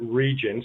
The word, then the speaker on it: Regin: other one is uh is region it's re g i n and I guess semantic the the folks at semantic decom pronounce it region so I'm going to go with their pronunciation um so we have these